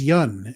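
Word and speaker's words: Yeun: hero and even though many people mispronounce his name he says his name is Yun and it's his name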